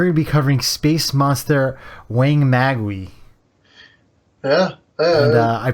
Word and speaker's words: Wangmagwi: uh and we're gonna be covering space monster weighing magwi yeah and I pronounced it correctly I watched the commentary track